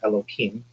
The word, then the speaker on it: Elohim: So the first term that you used, and I'm going to break up the word, it's Elo and then Him, which I will call Elohim.